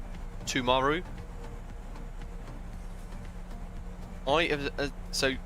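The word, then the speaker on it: Timaru: excited Adam Wednesday yes just remember to pronounce the I as a u tumaru I have so pronouncing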